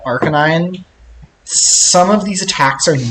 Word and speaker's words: Arcanine: I will say once you get to, like, Arcanine, some of these attacks are not telegraphed well.